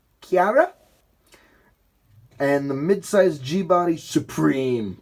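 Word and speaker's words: Ciera: This is spelled C-I-E-R-A, Chiara, and the mid-size G-body Supreme platform.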